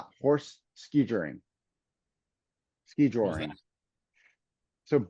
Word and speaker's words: skijoring: It's called, I gotta pronounce it correctly, horse ski joring.